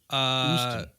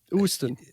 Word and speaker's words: Houston: Is that with a silent H, or do you pronounce the H or not? Houston. Houston.